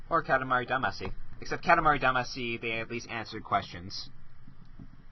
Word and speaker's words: Damacy: Except Katamari Damacy, they at least answered questions.